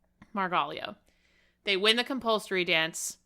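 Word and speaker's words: Margaglio: Barbara Fousar Poli and her partner Maritzio, how do you pronounce his last name? Margallio. Margalio.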